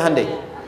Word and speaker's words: Hyundai: Hyundai kan dibacanya Hyundai.